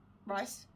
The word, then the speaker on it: Rhys: starts going out with is his name Rhys or right hand is rice and it's spelled r hys I'm not sure if